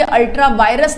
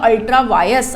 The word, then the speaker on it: ultra vires: ये आपको दिखने में VIRES लिखा होगा बट ये अल्ट्रा वायरस नहीं है, इट इज़ अ अल्ट्रा वायस। Are silent होता है, वायरस तो 3 इडियट में था, है ना, तो वायरस नहीं है, इट इज़ अ अल्ट्रा वायस, अल्ट्रा वायस acts, ठीक है।